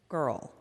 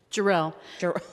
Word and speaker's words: Jarrell: Girl. Is that how you pronounce that? Jarrell. I'm all wrong.